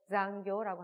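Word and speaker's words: 残業: 발음이 자도 자지수제도 한국인들이 가장 어려워하는 발음 중에 하나가 이 사행에 타금 붙여서 자지수제조인데요. 이 발음 두 개가 들어가서 장교 확실하게 타금 처리까지 해줘야 돼서 조금 발음이 어렵습니다.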